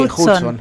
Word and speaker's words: Hudson: J-U-D, Hudson. Así lo decimos.